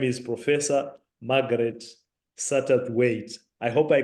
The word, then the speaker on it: Satterthwaite: Her name is Professor Margaret Satterthwaite. I hope I pronounced that correctly, Meg.